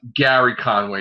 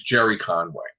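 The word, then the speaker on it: Gerry Conway: wasn't Gary Conway. It was Jerry Conway.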